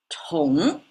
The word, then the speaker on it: 同: Tóng is the pronunciation.